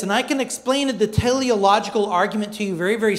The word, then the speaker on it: teleological: It's pronounced teleological, okay? So say it with me, teleological.